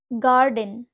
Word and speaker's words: garden: জি এর পরে যখন এ থাকবে বা এ লেটারটা বসে থাকবে, তখন কিন্তু আমরা এখানে জি এর উচ্চারণ গ হিসাবে করব। কেমন হবে সেই উচ্চারণগুলো চলো দেখা যাক। গার্ডেন, গার্ডেন স্পেলিংটা তোমরা ভালো করে দেখো, GARDEN, গার্ডেন।